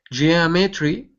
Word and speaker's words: geometry: geometry geometry geometry yeah put the stress right there on the on the o geometry geometry